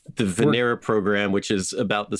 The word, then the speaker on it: Venera: So you mentioned, I don't even know how to pronounce it. Is it the Venera probes? Yeah, the Soviet Venera probes.